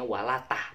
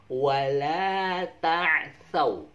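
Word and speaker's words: وَلَا تَعْثَوْا: Tapi jangan bacanya walatah, tapi wala ta'thaw.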